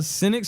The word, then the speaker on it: Xynic: name come from bro cynic so the word cynic originally comes from like the word cynical i remember i used